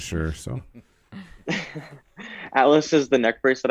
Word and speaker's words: Atlas: what is the is it Altus? Am I pronouncing it right? Atlas. Atlas.